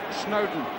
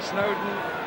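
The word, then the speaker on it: Snodin: Ian Snowdon, that's how it's pronounced, although it's spelled S-N-O-D-I-N. Snowdon, as in Lord and Mountain, was the way it was put to me.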